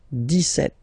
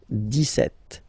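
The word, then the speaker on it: dix-sept: okay so it's clear but then for the pronunciation deset Okay so not insist on the S deset deset deset okay then so you will make this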